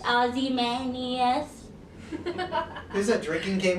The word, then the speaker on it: Ozymandias: I probably pronounced that wrong. How do you say your band name again? Ozymandias. Ozymandias.